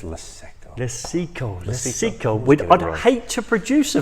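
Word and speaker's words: Luceco: We've got Lechico lights. I've got the name. It's Leseco.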